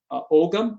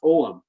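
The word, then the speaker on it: Ogham: he actually found an identified ogam or what we is properly pronounced omam it's Celtic o om Oram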